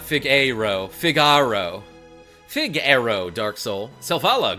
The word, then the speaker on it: Figaro: Aero, Figaro.